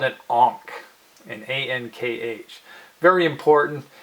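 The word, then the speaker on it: ankh: with a circle on top that's called it honk in a nkh very important it's a way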